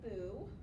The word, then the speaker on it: Bue: my name is Bo I say boo like a ghost because it's be and